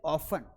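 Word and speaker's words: often: अक्सर को बोलते हैं ऑफन। क्या बोलेंगे? ऑफन। पर इसे अगर आप ऑफन पढ़ते हैं तो इसमें अब यह सही हो चुका है।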